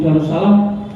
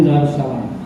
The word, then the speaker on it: Darussalam: di Masjid Agung Darussalam kalau mengelafalkan Masjid Agung Darussalam harus panjang karena tulisannya Ayah dua harus salam itu di sana saya membikin tulisan dan tulisannya Anya dua nggak boleh satu jadi bacanya apa